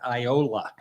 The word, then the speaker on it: Iola: got there I said how exactly do you pronounce the name of this place and some lady in the audience said Iola and I said Oh I thought it was